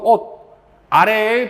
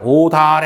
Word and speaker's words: 옷 아래: 모음아로 시작되는 실질 형태수가 오는 옷. 아래의 발음은 옷 아래이다 하면 안 되지. 이게 연결해서 어떻게 발음해야 돼? 오다래 해야죠. 오다래. 여름에서 오다래라고 발음해야 됩니다.